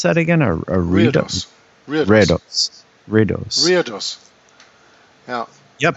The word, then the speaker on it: reredos: is the picture of the how do you pronounce that again? A reredos.